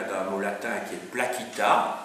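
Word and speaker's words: placita: Les PLA, ça vient d'un mot latin qui est plaquita.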